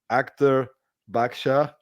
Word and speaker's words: Akhtar Badshah: real treat today uh I'm here with Dr Actor baksha did I pronounce it well this time yes you did